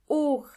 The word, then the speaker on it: Uhr: Uhr means clock, and the H in this case is silent. Uhr.